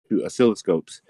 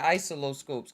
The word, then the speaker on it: oscilloscope: oh oh the oh that's how you say it i kept saying isolo scoops because i never hear anybody oh solo i was